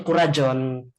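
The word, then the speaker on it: kuraĝon: Semangat itu kurajon. Kurajon. Kurajon. Kurajon. Kurajon. Kurajon. Heeh. Kurajon. Kurajon. Heeh. Kurajon. GX bacanya J ya.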